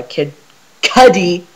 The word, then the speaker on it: Kid Cudi: i uh re saying pursuit of happiness by kid cuddy i said it right this time because i